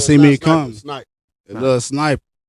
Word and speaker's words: Sniper: It Lil Sniper. Lil Sniper, like I said, Like ER.